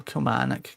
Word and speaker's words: Kilmarnock: That might be a goer over a Stanger, who's okay at Kilmarnock. Or Kilmarnock, get your pronunciations right, Sean.